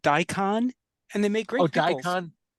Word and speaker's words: daikon: And then that other raised bed on the right is just daikon radish.